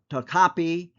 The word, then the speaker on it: Topkapi: And now let's look at the manuscript, the Topkapi, or some pronounce it Topkapi manuscript.